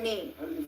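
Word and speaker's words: نام: Nam translates to name and it's quite uh easy to remember because nam and name just you know u you're just pronouncing the vowel differently and a in udu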